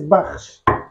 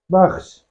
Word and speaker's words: bakhsh: Now, the name of this food is, traditional name is baksh. But I know how difficult it is for an English speaker to pronounce baksh.